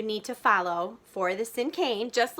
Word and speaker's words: Cinquain: in our unit is a Cinquain poem. That's how I'll be pronouncing it today. Sometimes you might hear people pronounce it as Cinquain. I have heard it pronounced Cinquain also. So there are a few different pronunciations, and there are a